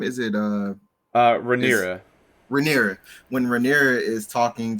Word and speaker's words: Rhaenyra: with Lena, when his daughter, how do you pronounce her name? Is it is Rhaenyra.